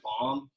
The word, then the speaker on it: bam: Bam. Yeah, it's bam. It'd probably be pronounced more like bomb, but if it helps remember it, like it sounds like the onomatopoeia for explosion.